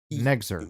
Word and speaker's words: NEXZR: Nexer. You pronounce it Nexer, so I'm just going to pronounce it that way, but it's spelled... That's the best I've been able to go with.